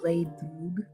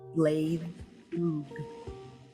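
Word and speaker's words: Blaidd Drwg: It's pronounced Blade Droog. Pronounced what? Blade Droog. Blade Ook. Oh, I thought it was pronounced bad wolf because that's what Rose said. Yeah, bad wolf. It's bad wolf in Welsh.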